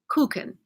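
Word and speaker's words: Kuchen: listened on Google and the way the English pronounce this word is touching but of course Germans pronounce it cuckoo or something like that but it's cake koukin and and I made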